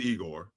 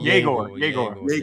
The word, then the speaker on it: Yegor: I'm not sure about this kid Igor. Is that his name? Is it Igor? Yegor.